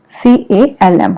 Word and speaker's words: calm: C-A-L-M, हम इसको pronounce करेंगे calm, calm नहीं बोलेंगे इसको, ठीक है? C-A-L-M. L is silent here, okay?